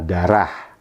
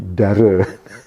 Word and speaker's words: darah: Saya sangat mengalu-alukan program derme karena derma kan derme nah darah harusnya darah. Nah, huruf H di akhir itu kan sering tidak diucapkan nih. Harusnya darah diucapkan oleh semi value ini jadi dare itu cerita tentang semi value yang pertama.